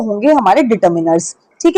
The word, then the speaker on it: determiners: लगकर वो होंगे हमारे डिटरमिनर्स। ठीक है? पहले आपको बता देती हूं इसकी प्रोनंसिएशन आपको गलत नहीं करनी है। बहुत सारे बहुत अच्छे-अच्छे टीचर्स इसको डिटरमाइनर्स पढ़ते हैं। यह डिटरमाइनर्स नहीं होता है।